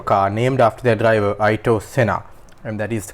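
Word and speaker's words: Ayrton Senna: is McLaren's hyper car named after their driver Ito Sena and that is the correct pronunciation actually listened to it before despite many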